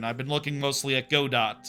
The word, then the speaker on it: Godot: I've been looking mostly at Godot, or Godot, I guess you say it. The T is silent.